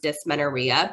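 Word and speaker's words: dysmenorrhea: um doctor now there is a condition called dis Menara I know it's a long word um pronounced d Menara but it essentially means painful cramping Sensations and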